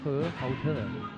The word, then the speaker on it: Hohhot: Which, if we give it its Chinese name, is pronounced Hohhot.